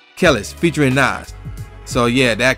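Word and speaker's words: Kelis: No, it's not Kells, because it's an I. Kellis, featuring Nas.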